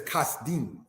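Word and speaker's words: כשדים: And brothers and sisters, it is the root word for Chaldean, because the word Chaldean is said as kasdim.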